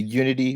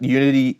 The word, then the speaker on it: Younity: he's going to tell us all about the unity media server I'm here